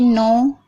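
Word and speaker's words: know: जैसे कि नो, not, knife, नॉक। तो यहाँ पर देखिए शुरू में सबसे पहले के आ रहा है, उसके बाद एन आ रहा है, तो इन सभी वर्डों में के साइलेंट है।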